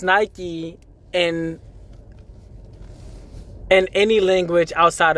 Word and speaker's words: Nike: Greek goddess Nik uh Nikki right but it's pronounced Nike in in any language outside of Greek so